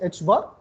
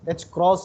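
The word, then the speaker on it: ħ: It is pronounced as h bar. Some pronounce it as h cross or h cut.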